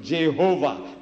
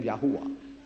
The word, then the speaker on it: Yahweh: get the J from jovah where did you get the J from J is another consonant at the vowels it become Yahweh what is yahwa yah